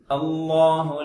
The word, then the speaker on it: அல்லாஹு: லாம் என்பது ஃபத்ஹாவோட ஆரம்பிப்பதால் தடிப்பமாக தான் சொல்ல வேண்டும். அல்லாஹு அல்லாஹு அல்லாஹு என்று சொல்லாமல் அல்லாஹு அல்லாஹு.